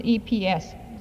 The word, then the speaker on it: Epps: Robert Peterson, 1600 South Van Epps. I believe that's pronounced, it's EPS, Sioux Falls.